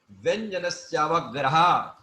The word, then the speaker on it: व्यंजनस्यावग्रह: व्यंजनस्यावग्रह, व्यंजनस्यावग्रह, ना ऐसे नहीं, ऐसे नहीं, व्यंजनस्यावग्रह। व्यंजनस्यावग्रह, या जो है या में दीर्घ का उच्चारण आना चाहिए।